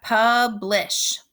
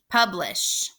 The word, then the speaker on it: publish: The second syllable is lish. Don't forget your digraph. We're going to mark that digraph. Lish. So I'm going to scoop that syllable. That I says I, and it's closed in. It's trapped. So that also makes it closed. So we have publish, publish.